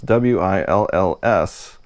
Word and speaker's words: Wills: I'm having a hard time pronouncing that because it's W-I-L-L-S apostrophe S. Well, in the United States, we don't put that extra S on the end, so it's really hard for me to pronounce.